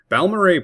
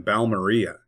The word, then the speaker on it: Balmorhea: Balmorhea, Texas. Balmorhea probably sounds better than Balmeria, which is how it is spelled.